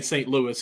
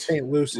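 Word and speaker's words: St. Lucie: year playing down in I always want to say St Louis it's saint St Lucie Lucy yes Lucy right yeah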